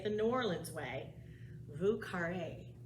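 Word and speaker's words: Vieux Carré: new orleans way lucare there's a lot of ways you can pronounce it but since it's in new orleans drink and that's how the new orleans say it new orleans say it the vous carrera which is if you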